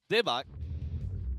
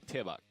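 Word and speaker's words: 대박: Debak is supposed to be pronounced with more of a T. Oh, yeah? Yeah, it's more like Tebak.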